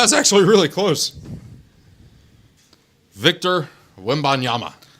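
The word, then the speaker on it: Wembanyama: Victor Wimanyama.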